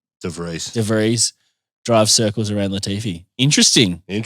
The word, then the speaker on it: De Vries: De Vries.